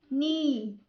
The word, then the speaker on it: knee: When K comes before the letter N at the beginning of a word, K is silent.